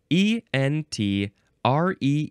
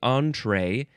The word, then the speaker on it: entree: but it is pronounced entree um oh looks like you can all oh um you can emphasize either syllable entree entree you can spell